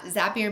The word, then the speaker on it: Zapier: Uh Zapier makes you happier. I've been told 10 million times when I pronounce it wrong.